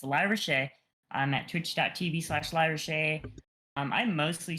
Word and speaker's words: LyraShae: I'm LyraShae, pronounced Lyra. A lot of people don't know how to say it, but it's LyraShae.